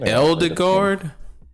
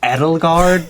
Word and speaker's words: Edelgard: You said Eldegard? You mean Edelgard, bro?